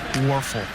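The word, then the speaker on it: Wuerffel: So it's so nice to be able to acknowledge them with awards like the Werfel Trophy, W-U-E-R-F-F-E-L, Werfel. There. You learned how to spell that a couple decades ago.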